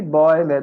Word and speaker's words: Bäume: Isso acontece porque com o trema que você coloca aqui no A, ele vai ficar similar ao EU e, portanto, a gente vai ter que colocar essa pronúncia nele também. Die Bäume, das Geräusch, o ruído,